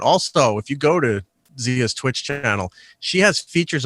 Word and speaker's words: Xia: Zia, babe, what are you promoting? You can check out my social, I can say words good, social media at Zia_land. It's spelled XIA_land.